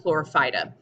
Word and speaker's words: Chlorophyta: these in the phylum chlorophyta so if we think about this word and we break it down it kind of sounds like the word chlorophyll and that's because it